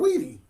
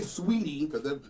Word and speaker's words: Saweetie: Saweetie. I said Saweetie. Oh, why? I didn't say Sweetie. I said Saweetie. Her name, that woman's name is not Sweetie. I said Saweetie.